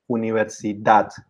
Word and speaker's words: universidad: So in all these words, universidad, español, profesor, reloj, actriz, vivir, the stress falls on the last syllable.